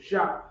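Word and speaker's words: שֵׁם: That's how you say his name in Hebrew. Sham.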